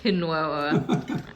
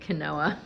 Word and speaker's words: quinoa: It's like sweeter than Yeah, I would think for cano quinoa. Quinoa. Someone doesn't live in LA if they're pronouncing it can kenoa.